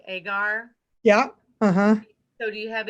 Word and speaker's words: agar: bacteria that can't be cultured on is it pronounced agar yeah so do you have any way of